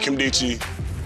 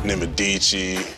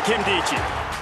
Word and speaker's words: Nkemdiche: i c h e I've heard people call my last name nadichi Nakamichi Kim dicki when I'm a star in the league people going to know how to pronounce my name you know who was